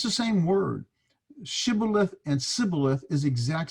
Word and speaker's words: Shibboleth: But he said, that is the Ephraimite, Sibboleth. Did you get the difference? Shibboleth versus Sibboleth. For he could not pronounce it correctly.